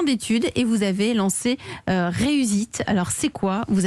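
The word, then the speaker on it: Reus'eat: Vous avez 26 ans, vous êtes le cofondateur de Reusite, qui s'écrit pour nos auditeurs R-E-U-S apostrophe E-A-T.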